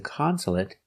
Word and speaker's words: consulate: consol consolate consolate consolate three syllables the stress is on the first syllable consolate consolate also finish with a stop T consolate not consolate but